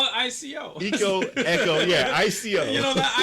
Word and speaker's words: Ico: And I'm like, no one has said the reference for Ico in there, which is Ico, pronounced Echo? Echo.